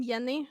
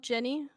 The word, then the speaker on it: Jenny: pronounce my name Jenny and not Jenny? Why? I figured it was an Because accent. in Swedish, yeah, in Swedish we don't have the j noise that you have in English. Oh. So our J is pronounced yi. Yi. Yeah. Yi. Our J is pronounced yeah.